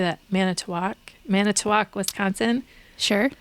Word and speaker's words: Manitowoc: Manitowoc, Wisconsin.